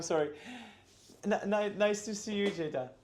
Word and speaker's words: Ceyda: your name how would you spell it how would you say it okay okay cold B Jada so Jada or Jada Jada K wow okay so I'm going to I'm going